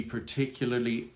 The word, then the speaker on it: particular: Colors to be particularly comforting.